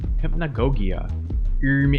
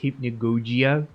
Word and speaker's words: Hypnagogia: Last game for this video, Hypnagogia. Actually, it's pronounced Hypnagogia. The game said so.